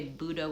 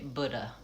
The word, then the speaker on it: Buddha: I do think people say Buddha with an uh first syllable stress. Buddha, second syllable is schwah. But I also think people say Buddha. Buddha, the uh vowel like in book and good.